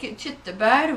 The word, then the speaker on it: tyttebær: And then we take tyttebær, which is sort of like cranberries.